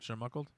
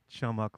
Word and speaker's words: Chumuckla: Was it chermuckled? Chumuckla. I don't know. What It's is like it? the Were you going to ever tell us what that is? Or Oh. just throw that out there? Chumuckla. It's a town in Florida.